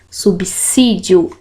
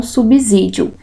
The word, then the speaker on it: subsídio: O fonema da palavra subsídio não é som de Z. O correto é o som de S, subsídio, e não subsídio.